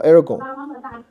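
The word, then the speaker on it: ἔργον: 来这个 Aragon，那这个它前面是没有那个 7 号的，对不对？所以它是没有喝的哈，别搞错了。Aragon 就是指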